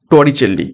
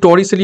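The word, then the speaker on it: Torricelli: সি দেখো even জেলিসতা টরিচেলি একচুি টরিসলি আমরা বলে থাকি টরিসলি টরিসলি পরীক্ষা টরিসলি আসবে তো উচ্চারণটা হবে টরিচেলি থারমোমিটারের প্রথম রূপ দেন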